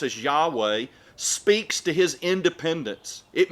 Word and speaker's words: Yahweh: name by which he revealed himself which we pronounce as yahweh speaks to his independence it means i am